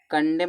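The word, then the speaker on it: condemn: कंडेम में देखो एम के बाद एन आया तो इसको एन साइलेंट समझा जाएगा।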